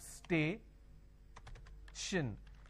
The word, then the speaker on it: station: h is missing but every word that ends with t i o n is not sure sound for example for example station now when i have station i have stay shin the t-i-o-n basically i can say s-h-i-o-n station now dislocation all these